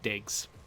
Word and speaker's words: DIG65: This guy's name is DIG65, and they pronounce it Diggs.